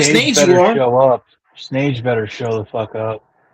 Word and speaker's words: snage: Snage better show the fuck up. He's not gonna show up like a real punk. Like snake, but spelled with a G.